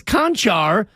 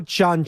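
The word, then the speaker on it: Čančar: But last night, it was Conchar, and I'm like, wait. The guy's name can't be Cancer. Yeah. It's almost spelled like Cancer. Is it Concar? If it was Bahamian. Oh, it's Chanchar? Vlatko Chanchar.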